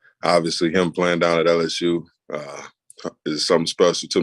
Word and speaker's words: La'el: right so you say my first name it's um but everybody just calls me so just call me or doesn't